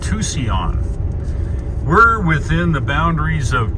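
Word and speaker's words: Tusayan: Grand Canyon learned something how do we pronounce t-u-s-a-y-a-n Tucson so remember that if someone asks you in a trivia game it's called Tucson we're within the boundaries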